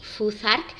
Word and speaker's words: Futhark: al propio abecedario así fuzzark viene de las primeras seis runas que según el origen o sea el orden que les han marcado son la flau la th que pronunciamos como Z la a la r